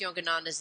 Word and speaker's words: Yogananda: to um okay Yogananda what how do I pronounce yogananda's name pansa pansa Yogananda that's his title Yogananda is his name so